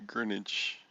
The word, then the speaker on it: Greenwich: date lines is the greenwich green witch however you say green it's spelled green witch but it's greenwich i learned about that